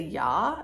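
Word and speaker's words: Я: English like a backwards r it is a yaw it is pronounced ya in most well I said that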